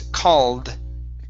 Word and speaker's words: called: called uh right here instead of CED it's called called very good very